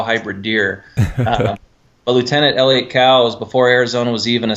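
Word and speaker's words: Coues: Lieutenant Elliott Cows, and actually it's properly pronounced Cows deer, but everybody calls it Koos deer, and I think it's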